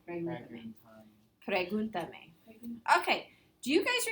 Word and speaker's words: pregúntame: Where's the accent at? Where's You. On? No, you said it right. On the U. Pregúntame. It's the third. So here's the me is the last accent, is the last syllable. The ta is the second to last. The third to last syllable has to be accented.